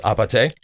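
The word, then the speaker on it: 아파트: So it's short for apartment, but it's pronounced apate? Yes, because in Korean, right. apate is apartment, means apartment.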